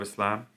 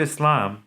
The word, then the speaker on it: Islam: It is pronounced with a hard S as in Sam, as opposed to a soft S or Z sound.